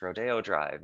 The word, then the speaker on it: Rodeo Drive: back in los angeles is a place called rodeo drive looks like rodeo but it's pronounced rodeo drive and it's in the heart of beverly hills